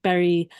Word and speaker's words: Bury: St Edmonds in suffk Berry is spelled bu r y but it's pronounced like Berry like a raspberry or a strawberry so this sort of